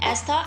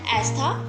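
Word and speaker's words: Estha: To pronounce Rahel and Astha, and for spellings is R-A-H-E-L, and Rahel and Astha, E-S-T-H-A.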